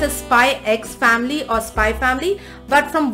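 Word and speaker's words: Spy × Family: it is pronounced as Spy X Family or Spy Family, but from what I hear, from most people I hear, it is pronounced as Spy Family.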